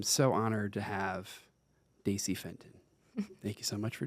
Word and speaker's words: Fenton: And today, I'm so honored to have Daisy Fenton. Thank you so much for joining us. Thank you. I'm happy to be here. Did I pronounce your last name correct? Yes, you did. Fenton.